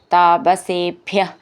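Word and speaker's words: താപസേഭ്യഃ: അഗസ്ത്യം സമസ്ത ആശരനികര സപത്രാകൃതിം താപസേഭ്യ അവിടെ വിസർഗം അപ്പൊ വിസർഗം പറയണം ഭ്യ എന്നുള്ള അക്ഷരം നന്നായിട്ട് ഊന്നി പറയാനുള്ളതാണ് പ്രത്യശ്രൗഷി ഇവിടെയും ഷീ എന്ന്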